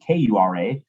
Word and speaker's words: Kura: I say Kura, like you're going to cure a disease.